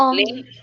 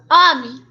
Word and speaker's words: homem: que é isso o homem homem isso mesmo lembra que o h quando ele tá no começo da palavra ele não tem som então você não pronuncia o h você falar direto ao